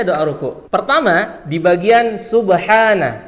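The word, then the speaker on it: سبحان: Pertama, di bagian subhana. Di sini pakai huruf H kecil yang keluar dari tengah tenggorokan.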